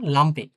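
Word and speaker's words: Lampe: এল ফর লাম্পে, লাম্পে মানে বাতি, লাম্পে। হ্যাঁ, এটা কিন্তু ই না, এটা এখন এ হয়ে গেছে, হ্যাঁ, এটা কিন্তু এর মতোই উচ্চারণ হয়, লাম্পে।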